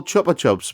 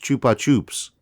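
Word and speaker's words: Chupa Chups: kind of sponsorship deal with what i call chopper chops but i've been reliably informed is pronounced chupa tubes whoever said that right take him one side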